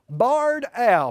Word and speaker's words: barred owl: first bird is a barred al b-a-r-r-e-d the reason i spell it is because sometimes we say these animals are barn owls b-a-r-n they're actually two different types of owls we don't have many